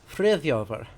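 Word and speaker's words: Friðþjófr: In Old Norse, that is spelled F-R-I Ev Thorn Yod accented O F-R. Frithjofer.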